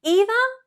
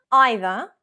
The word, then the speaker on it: either: Either, either, neither, neither. Which is correct? Well, English is a global language. They are both correct. One is traditionally British, one is more American.